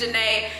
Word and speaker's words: Janae: It's not June. It's not Junie. It's Candace Janae.